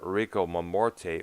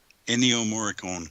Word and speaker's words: Ennio Morricone: And of course, so there was his tribute album to the composer Enrico Mamorte. Was that his last name pronounced? Ennio Morricone.